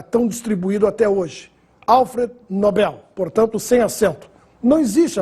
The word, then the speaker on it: Nobel: se confundindo com pronome de tratamento em inglês nóbel ou Nobel quando se ganha o prêmio é Nobel Esse é o nome do Sueco que nos deu o prêmio da tão distribuído até hoje Alfred Nobel portanto sem acento não existe a forma nóbel